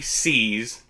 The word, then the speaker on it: Seay: But today we are talking about Ali C's, named C, at the C, you know, S-E-A. The Y is silent.